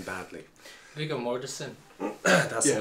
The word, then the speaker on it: Viggo Mortensen: I gotta stop calling him Viggy, but I'd rather call him Viggy than pronounce his name badly. Viggo Mortensen.